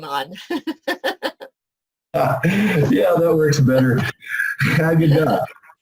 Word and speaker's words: Haggadah: Haggadah.